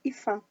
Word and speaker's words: Aoife: Hoje a gente vai falar sobre Ifá, a bela rainha da guerra. Apesar de se escrever Aoife, se diz Ifá.